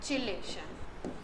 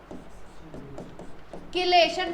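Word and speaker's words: chelation: चिलेशन। क्या नाम देते हैं? किलेशन भी बोलते हैं कई, प्रोनाउंसिएशन का फर्क है, कई लोग इसको किलेशन।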